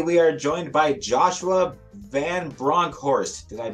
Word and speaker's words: Vanbronckhorst: the gym today we are joined by Joshua van bronkhorst did I pronounce that correctly yeah you actually got it